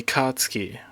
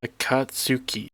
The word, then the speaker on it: Akatsuki: Um, the Katsky. I think I'm pronouncing it wrong. It's from Naruto. Like this logo, the neon sign. How do you pronounce this? Akatsuki.